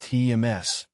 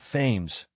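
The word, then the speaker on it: Thames: teacher in Canada that the big river in London is pronounced TMS not fames explaining to a high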